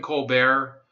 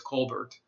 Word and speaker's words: Colbert: real name isn't pronounced Colbert. It's Colbert. It was it was basically made up for the show. They used the French pronunciation with the dropped consonant at the end.